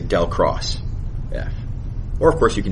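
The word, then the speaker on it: ∇×F: So the way you would pronounce this is del cross F.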